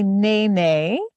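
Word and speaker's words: nēnē: about this bird sure this is called a Nae Nae and you can practice that in the classroom and it's spelled n e with a line over the top of it that's called the kahako and then n e also kahako over the e and that is our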